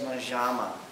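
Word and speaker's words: مجمع: right, and it says majama. It rhymes with pajama.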